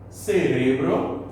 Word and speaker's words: cerebro: Aqueles que, português e espanhol, têm as escritas semelhantes, porém a sílaba tônica é diferente, ou seja, a pronúncia é diferente. Se liga nesse exemplo, retomando a aula anterior. E aí, se você não estava lembrado, agora tá, né? Cérebro, em português, cerebro, em espanhol, beleza?